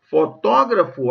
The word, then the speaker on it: fotógrafo: Olha lá, ó. Antropólogo, fotógrafo, há 2 sílabas depois da sílaba tônica.